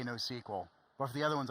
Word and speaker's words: NoSQL: specifically for NoSQL, I say NoSQL.